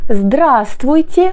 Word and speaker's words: здравствуйте: qu'on tutoie, ou alors здравствуйте pour quelqu'un qu'on vous voit ou pour un groupe de personnes. Здравствуй, здравствуйте. Pensez ici que le premier V ne se prononce pas.